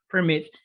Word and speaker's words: permit: Ok, básicamente verbos como permit, cuyo acento está en la última sílaba, permit, que terminen en una consonante.